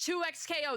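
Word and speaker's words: 2XKO: It's 2X KO. That's how you pronounce it.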